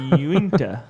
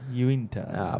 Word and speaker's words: Uinta: Uinta. Uinta.